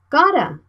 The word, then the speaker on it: gotta: Gotta. Gotta. If we write it by pronunciation, we gotta practice every day to master spoken English.